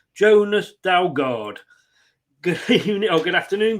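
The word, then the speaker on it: Jonas Dalgaard: with me I hope I get this right Jonas dalgard good evening oh good afternoon good evening good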